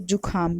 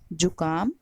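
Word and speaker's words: जुकाम: जतिन तरह से हैं कुछ लोग जो काम को जुखाम भी बोलते हैं लेकिन सही उच्चारण है जो काम पर लिखा हुआ भी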